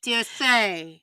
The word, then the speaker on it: Orsay: Orsay? Yeah, the D'Orsay. D'Orsay.